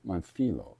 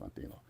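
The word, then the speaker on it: Montllo: I think it's pronounced Monthilo. If I'm pronouncing that wrong, please let me know. M O N T L L O. And a friend of mine told me that's Montho, like a th sound, you know.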